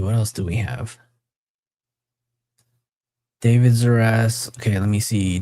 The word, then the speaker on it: D4VD: This is the case against the pop star David Anthony Burke, better known as David, spelled with a 4.